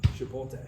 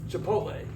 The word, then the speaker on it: Chipotle: The L's after the T. Chipotle.